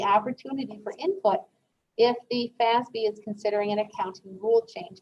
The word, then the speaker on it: FASB: is known as the financial accounting standards board f-a-s-b it's pronounced fasbi so the fazby in the united states sets our accounting standards